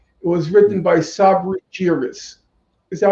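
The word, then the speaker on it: Jiryis: Arabs in Israel, it was written by Sabri Giris. Is that how you pronounce his name? Giris, right.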